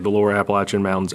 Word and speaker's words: Appalachian: um like the lower Appalachian Mountains. Appalachian. How do we say it again? Appalachin. Appalachin. People from North Carolina, Tennessee get real upset if you don't say it correctly.